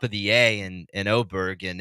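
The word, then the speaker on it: Åberg: a but you know with the little o above his above the a it's it's O Berg but anyway Superstar Talent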